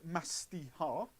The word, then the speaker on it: Mastiha: So it's pronounced Mastiha, and it's actually really drinkable.